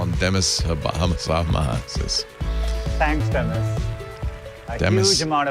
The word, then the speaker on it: Demis: So he pronounces it Demis.